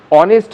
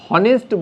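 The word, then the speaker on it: honest: অনেস্ট হচ্ছে আমাদের সঠিক উচ্চারণ। তাহলে হনেস্ট বলবো না, আমরা বলবো অনেস্ট। তাহলে এইচ হচ্ছে সাইলেন্ট।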